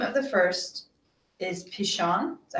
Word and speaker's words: Pishon: The name of the first is Pishon. Is that how you say it? Yeah, Pishon.